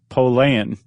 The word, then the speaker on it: Pollan: Do you know how to pronounce his name correctly? No. Pollan.